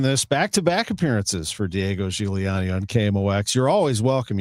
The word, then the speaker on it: Giuliani: Giuliani. That's the right way to say it. Yeah. He told me once upon a time that you can say it anyway. There's an Americanized Gigliani.